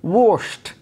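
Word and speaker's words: washed: এই দুটো শব্দকে অবশ্য আমরা ওয়াশ বা ওয়াচ উচ্চারণ করে থাকি, কিন্তু আসলে হবে কি, ওয়াশড এবং ওয়াশড।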